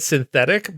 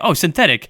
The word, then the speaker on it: Synthetique: Yeah, I think that like they want you to just say it synthetic, but like it's spelled synthetique. It's been spelled synthetique.